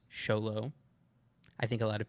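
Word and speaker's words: Xolo: and I did look it up it is pronounced sholo I think a lot of people think it's Zolo but I checked it okay go ahead I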